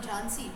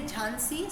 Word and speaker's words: Jhansi: had the Rani of Jhansi who was there. Even today if you go, some people say Jhansi, some people say Jhansi, right?